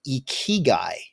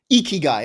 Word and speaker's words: ikigai: to mispronounce it but the ikea guy did i say it right did i say it right yeah say it you iggy guy ikigai okay doc got it